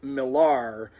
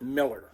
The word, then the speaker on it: Millar: Now, she pronounced her last name, her married name, the way it was spelled, Millar, but Kenneth always pronounced it Miller.